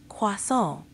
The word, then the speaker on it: croissant: Try emphasizing the nasal sound at the end a bit more, like croissant.